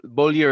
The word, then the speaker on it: Beaulieu: So Beaulieu is very hard to pronounce unless you're French. But the last part of my name is Lieu, Lieu, which in English we use the word in lieu of something, right?